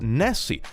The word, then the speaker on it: Nisiag: Nisiag is pronounced Nessie.